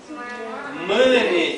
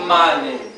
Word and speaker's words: μήνυ: Μήνυ και όχι μάνι. Μήνυ. Όλοι μαζί. Μήνυ. Ούτε ου, ούτε α. Μήνυ.